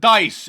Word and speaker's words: Dice: two uh people on Twitter saying wait Mark de has been doing this or dice de has